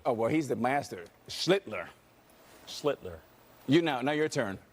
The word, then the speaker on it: Schlittler: Schlittler. Oh, well, he's the master. Schlittler. Schlittler. Now your turn. Sound like Hitler.